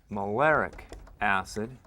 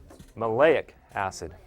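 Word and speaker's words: maleic acid: me switch markers here um some something called mic acid and they're very they have the exact same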